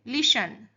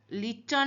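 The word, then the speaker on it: listen: लिसन लिसन लिसन लिटन नहीं होता। लिसन तो लिसन टू मी केयरफुली। तो टी यहां पे साइलेंट है।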